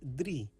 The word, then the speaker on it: drie: 3 is drie. This is pronounced like de and ri.